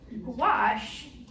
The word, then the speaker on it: gouache: So anyway, so gouache is pronounced like squash.